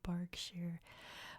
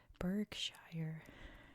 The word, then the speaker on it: Berkshire: what in the world why is it called bark share when it's clearly spelled birkshire and the answer is because that's how it is I have an even